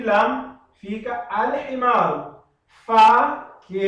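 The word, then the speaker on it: الحمار: Então, eu tenho que pronunciar alif e lam e depois, em seguida, a himaru.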